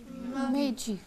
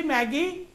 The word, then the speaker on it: magi: Meiji. Shabash. Meiji. M-A-G-I. Meiji. Magi? Or kuch? Meiji. Meiji. No, the word is Meiji. The word is? Meiji. I'll write its pronunciation. M-A. J-I. The word is Meiji. Now, why I give the drill of these words?